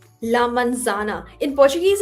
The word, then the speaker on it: manzana: La mansana. La manzana.